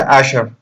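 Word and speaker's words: אשרי: Bienaventurado es la palabra en hebreo Asher. Asher, se pronuncia Asher, que significa una persona feliz, dichosa, plena, completa.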